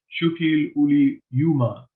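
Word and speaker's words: Šuppiluliuma: Shukil-uli-Yuma is the good pronunciation.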